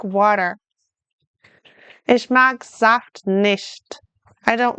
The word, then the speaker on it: Saft: Ich mag Saft nicht. I don't like juice. Remember the German S at the beginning sounds like a Z? Saft.